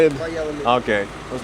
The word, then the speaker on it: Valladolid: Valladolid.